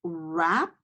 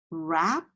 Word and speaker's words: wrap: our next word is rap rap okay and again the W is silent remember and we have a rap our next word is